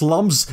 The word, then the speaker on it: lums: It's lums. If you say differently, I will find you.